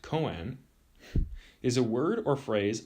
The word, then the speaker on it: koan: the mondo is intimate the koan pronounced koen is a word or